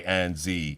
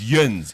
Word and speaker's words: yinz: where they pronounce it Yuinz. Yeah, and you're Yuins. like, wow. Yuins. Yuns. It's Yins. Yins.